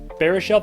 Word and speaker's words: Baruchel: it up but Jay Baruchel barishelle barishelle that's how you say it Jay Baruchel is a